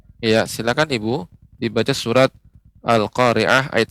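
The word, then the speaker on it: القارعة: Bapak, untuk pengucapan ri ini masih agak terdengar lebih banyak getaran ya. Dikurangi lagi getarannya. Al-Qari'ah.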